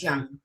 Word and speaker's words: Jung: i i don't know it's it's young but i think opinions vary yeah i like jung i'm gonna stick to that because that's what i